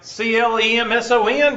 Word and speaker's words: Clemson: Like CLEMSON doesn't have a P in it. Has a Z in it.